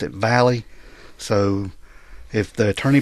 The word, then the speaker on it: Valle: And we're talking today about a guy by the name of Gilberto Valley III.